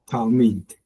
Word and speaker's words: Talmud: you didn't pronounce it. It would be Talmud. Yes, this was a syllable breaker.